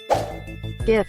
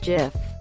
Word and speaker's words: GIF: GIF is pronounced with a hard G.